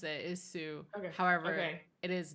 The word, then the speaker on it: Sioux: is the way that you pronounce it, is Sioux.